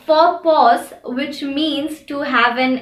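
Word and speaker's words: faux pas: can think of that has a silent x in them is for which is also derived from a french word and for pause which means to have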